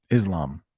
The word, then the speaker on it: Islam: hear most people say Islam. Islam. That might be the English pronunciation. That's the way most people say it here, but maybe in a different language, it's pronounced differently. But Islam is how we say it.